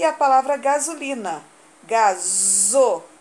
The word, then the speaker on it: gasolina: E a palavra gasolina. Gasolina. Também tem som de Z e se escreve com S. Está entre uma vogal e a outra.